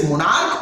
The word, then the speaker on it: monarch: यदि उसी सी एच का उच्चारण चौ न होकर क्वा हो जाता है, जैसे मोनार्क हो जाता है, MONARCH, एस्टोमेक हो जाता है, STOMACH, तो यहां पे उच्चारण चौ नहीं हो रहा है, और चौ नहीं होने